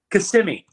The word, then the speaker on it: Kissimmee: He goes, "Stop saying Kissimmee," and then he left. And I'm like, I like the way he said it, but I don't know. How do you say it, Doug? Kissimmee.